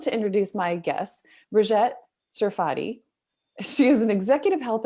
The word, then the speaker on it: Serfaty: Brigette, I think I just butchered your last name. Could you correct that for me? That's okay. Yeah, it's Brigette Serfaty.